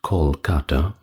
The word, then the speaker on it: Kolkata: thumbnail and title, but now rendered rather with a K instead of C, and pronounced Kolkata, I believe.